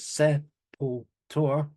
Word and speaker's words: Sepultura: But I know there's been some people that might have said their name wrong. I know I said it wrong, and I'm not going to say it. But then I watched a live set of them from '86, saying it the right way, which is Sepultura.